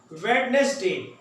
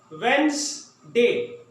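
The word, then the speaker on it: Wednesday: वेडनेसडे ये हम पढ़ते हैं, ये गलत है। वेंसडे मेरे साथ आप पढ़ें, वेंसडे।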